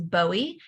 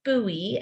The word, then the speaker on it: Bowie: forever pronounced it as Bowie and I have been corrected many many times um but it is pronounced buoy and I will remind